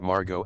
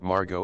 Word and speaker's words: Margot: The T is silent. As in Harlow. There's a story about Margot Asquith, a British socialite and author, meeting Jean Harlow and correcting Harlow's mispronunciation of her first name.